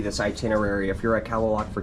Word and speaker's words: Kalaloch: By the way, guys, it's actually pronounced Kalaloch Lodge, not Kalaloch.